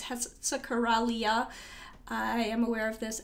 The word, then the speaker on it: Hexacoralla: My pronunciation is wrong. It's Hexacoralla.